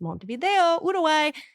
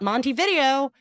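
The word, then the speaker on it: Montevideo: I'm like it's Monte Vido. It is not Monty video.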